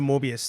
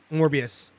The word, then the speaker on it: Morbius: I'm sorry, I can't pronounce it. Shang-Chi. Thank you. I can't wait for that movie. Mm-hmm. Whatever happened to Mobius too? Morbius.